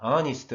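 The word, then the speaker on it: honest: 붙이면 되는데 배경 4 어니스트 의 즉 알파 배신 h 가 무 검으로 5 감원 발음 됩니다 따라서 원을 붙인 은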